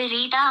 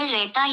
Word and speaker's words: read: இதில் V2 மற்றும் V3 இரண்டும் read என்ற உச்சரிப்பில் வருகிறது. ஆனால் மூன்றிற்கும் ஸ்பெல்லிங் ஒன்றுதான். நேரக்குறிப்பை வைத்துதான் அது ரீடா அல்லது ரெட்டா என்று சொல்ல முடியும்.